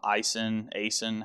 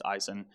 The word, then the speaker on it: Aisin: Aisin, however you want to pronounce it. I think it's Aisin. AISIN.